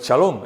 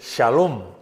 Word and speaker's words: shalom: no no decimos bueno algunos dicen shalom pero no es shalom es shalom con x shalom Pues esta sería shen